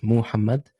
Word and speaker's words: Mohamad: There are different ways actually to pronounce the name. So there's the way you write it. So I write my name with Mohamad. So it's Muhammad. Some people would use Muhd to say Muhammad.